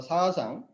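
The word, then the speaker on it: 사상: Y Xi-Xiang, en coreano se pronuncia como Sa-Sang, son 4 criaturas mitológicas en las constelaciones chinas.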